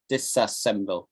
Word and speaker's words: disassemble: But disassemble is slightly harder to say because it's disassemble. Got 4 syllables.